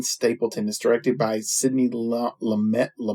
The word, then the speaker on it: Lumet: Is directed by Sidney Lumet. T is silent.